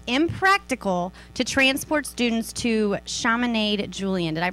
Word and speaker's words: Chaminade: to transport students to Chaminade Julian. Did I pronounce that right? Chaminade. Chaminade. Not from here. It rhymes with promenade.